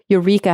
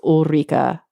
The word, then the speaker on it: Ulrika: So this week I want to thank Eureka Hagman. Oh, I'm so sorry. I totally mispronounced your name. I think it's Ulrika.